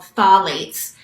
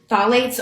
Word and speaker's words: phthalates: And often in fragrance, they add something called phthalates. It's So that's spelled PHTHLATES. It's a weird word. And phthalates are, they get added to fragrances so that